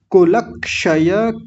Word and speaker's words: कुलक्षय: आगे देखिए कुलक्षय कृतम अब यहां कई बार होता है थोड़ा सा हम ल पर रुक जाते हैं ल पर नहीं रुकेंगे अगर देखिए यहां थोड़ा सा ऐसे जोड़ा जाए तो क्या बनेगा वो जो क्ष होता है ना मैंने आपको बताया था ये आधा क और मूर्धन्य श होता है तो इनको साथ में जोड़ लें सबको कुलक्षय कुलक क्षय शय कुलक्षय तब इसका उच्चारण अच्छे से हो जाता है अकेले का इसका उच्चारण